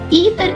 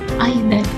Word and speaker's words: either: Either and neither are British pronunciation. And we can see neither, either. Neither, either, American pronunciation. Either, neither, British pronunciation. So you can say this or that. Both forms are standard and correct.